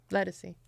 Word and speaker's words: Ledisi: Ledisi.